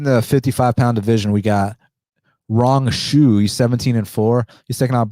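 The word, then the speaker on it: Rong Zhu: You pronounce this guy's name Rong Shu.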